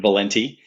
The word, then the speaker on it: Valente: you for having me here uh you did pronounce it correctly Valente Italian uh origin um I am the father